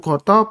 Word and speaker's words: GOTO: Saya mulai langsung dengan yang pertama adalah untuk saham Goto ya, Gojek Tokopedia. Jadi saya sebutnya Goto bukan Gotu ya. Mungkin orang-orang bilangnya Gotu tapi saya lebih suka sebutnya Goto. Karena memang pelafalannya ya Gojek Tokopedia.